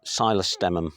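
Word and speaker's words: psilostemon: few bits that's duranium silus stum with a silent P very nice lovely color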